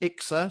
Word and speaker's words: IICSA: The other thing that IICSA, which is actually pronounced ICSA, so it's a bit confusing, is they looked at the barriers to reporting, and there's a list of them.